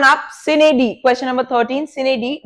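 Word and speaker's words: sine die: next one आप सिनेडी, question number 13, सिनेडी, डाई, वो Latin word की प्रोनाउंसिएशन में सिनेडी, इसका मतलब होता है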